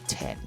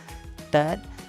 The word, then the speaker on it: Tết: A lot of foreign they pronounce Tết. It's a soft T. But if you want to pronounce correctly in Vietnamese, Tết, the T side very strong. Emphasize the T, the, like this, third. So that's the correct third, right? Not Ted, okay? So that's the correct Vietnamese